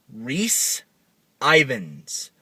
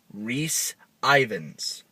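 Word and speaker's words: Rhys Ifans: who please the lizard it is pronounced reys Ivans Rees Ivans get it straight I'm glad you remembered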